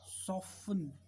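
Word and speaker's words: soften: लिसन, लिसन टू मी, मेरी तरफ सुनो, तो टी इसमें साइलेंट हो गया। सॉफ्टन, इसकी वॉइस बहुत अच्छी है, सॉफ्टन, सॉफ्टन, इसमें टी साइलेंट, राइट।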